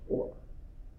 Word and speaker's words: Euler: It looks like he's Euler, but it's pronounced Euler.